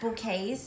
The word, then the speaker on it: bouquets: sells bouquets of daisies and that word is pronounced bouquets in case you were wondering how to pronounce